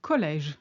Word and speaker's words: collège: It's often applied to the E in the middle of a word to signal it should be pronounced as an open E sound, rather than being silent or forming a diphthong. For instance, très, which is very, and collège, which is college.